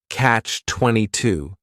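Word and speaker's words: Catch-22: This is two words. It's a compound noun. The word catch is just one syllable and then 22 is three syllables and the stress is on that final syllable.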